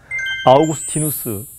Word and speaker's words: 아우구스티누스: 해답 하나 여러분들에게 일러드리겠습니다 아우구스티누스 들어보셨지요 흔히 영어로는 어거스틴이라고 발음합니다 354년부터 430년까지 살았던 고대